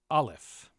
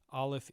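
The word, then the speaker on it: א: Olaf is a silent letter.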